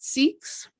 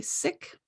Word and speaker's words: Sikh: it's something else so you may have heard a lot about seeks the pronunciation is really sick however even in academic circles it's really hard to find that pronounced correctly because the british decided it was sikh and it is just